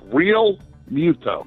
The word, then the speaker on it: Realmuto: with JT Realmuto yes they asked him how to say his name so because everybody likes to put like different pronunciations to it it's just real muta real mute a real PP alright PT 5 97